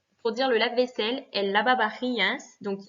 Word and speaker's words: lavavajillas: dire le lave-vaisselle, el lavavajillas. Donc, il y a à chaque fois VA, VA. Hein, attention, le V se prononce B, donc el lavavajillas.